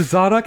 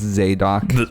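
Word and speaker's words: Zadakh: So, the Zodok have staffs of suggestion. Yes. It's pronounced Zadok. What the hell? Like the priest? Yes. Exactly. Like the priest.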